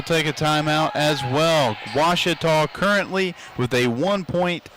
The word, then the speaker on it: Ouachita: for Washita Baptist University back in Texas everybody pronounces it Wichita but really it's Ouachita Washington how would you